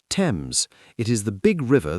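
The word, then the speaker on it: Thames: Tames is pronounced Tames.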